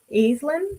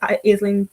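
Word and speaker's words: Aislyn: Okay, so Staten Island, or Aislinn is how they pronounce it in the audiobook, I think.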